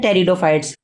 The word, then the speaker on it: टेरिडोफाइट्स: इसका पीर साइलेंट होता है। इसीलिए हम लोग उसे बोलते हैं टेरिडोफाइट्स।